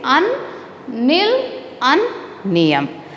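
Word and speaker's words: unnilunium: How you will pronounce this one? UN means un, nil, niyam. The name of this element is un, nil, niyam.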